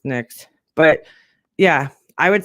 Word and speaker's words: NYX: I know some people don't know it's pronounced NYX, but yeah, I would say Morphe, Too Faced.